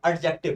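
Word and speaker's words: adjective: एडजेक्टिव ना, T silent, एडजेक्टिव, possessive एडजेक्टिव है ये, है ना।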